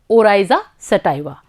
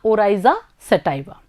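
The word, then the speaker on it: Oryza sativa: चावल का वैज्ञानिक नाम है ओराइजा सटाइवा। एक बार फिर से दोहराएंगे, ओराइजा सटाइवा।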